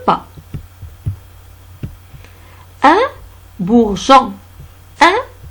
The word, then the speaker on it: bourgeon: Un bourgeon. Un bourgeon. E ne se prononce pas.